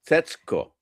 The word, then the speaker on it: Setsuko: Setsuko. Yeah, am I closer to the correct pronunciation there?